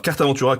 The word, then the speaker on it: Cartaventura: voilà carte avant tout carte Aventura je sais pas pourquoi je le prononce à l'espagnol je pense que je pense à Port Aventura qui m'avait marqué quand j'étais adolescent mais donc c'est carte Aventura caravane voilà alors carte